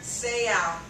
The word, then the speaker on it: Seau: Andre Waters and Junior Seau if I was reading that I would not have known I would have thought that was so like both like your bow Beau I would have pronounced it so so even as instructors